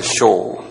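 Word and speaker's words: שאול: 히브리 말로 쇼울이라고 그래서 쇼울 이렇게 쇼울 한번 발음해 보실래요? 쇼울 쇼울 그 한국 말로는 이걸 수올이라고 그랬나요? 수올 예 이렇게 이제 했어요.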